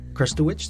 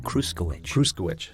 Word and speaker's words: Kruchkywich: Yeah, Kruchkywich. Did I get it right? Kruchkywich. So I got it wrong both times.